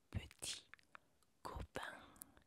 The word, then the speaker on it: petit copain: Novio se dice petit copain y novia se dice petite copine. Ahora, te voy a mostrar cómo se escribe para que tú sepas. Donc, on a dit novio. Sí. Conmigo, novio, petit, petit, petit. Cuando digas la E, los labios se juntan porque no tiene tilde.